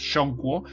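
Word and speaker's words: 中国: Si partimos de, por ejemplo, China, cómo se pronuncia, ¿no?, en el idioma mandarín, ¿no? Es Shongguo, que lo que quiere decir es país del medio, ¿no?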